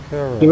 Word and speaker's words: Kuril: How do you pronounce that? KURIL. Kurile Islands. So we are just about coming up to the islands now, the Kurile Islands.